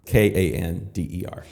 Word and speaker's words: Kander: Kander, absolutely. It's actually not spelled like Candor. Kander.